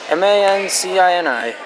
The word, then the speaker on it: Mancini: Mancini. Oh, here's Katie with the service. I know how to pronounce that name.